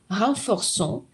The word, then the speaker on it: renforçons: Je renforce, tu renforces, il renforce, nous renforçons, vous renforcez, il renforce. Когда мы произносим этот глагол, казалось бы, никаких особенностей нет,